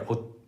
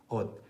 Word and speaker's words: 옷: bottom line, it's because when 시옷 comes at the very end of a syllable, like 옷, in Korean you cannot pronounce the 시옷, which is roughly the equivalent of S, the sound in other languages. You can't pronounce it because you don't know what word or what vowel is coming after that, so you just stop it right there. 옷, 옷.